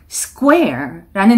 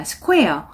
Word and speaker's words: square: 될 페스티벌 광고가 나왔는데 square라는 단어가 보여요. 이 단어는 square라고 잘못 발음하시는 분들이 많습니다. square 아니고 square. 요거를 조금 빠르게 발음한다고 생각해 보세요. square, square, square, square.